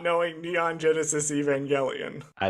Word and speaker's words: Evangelion: Oh, it's not like evangelical. Like that's not how you say it. No, it's Evangelion.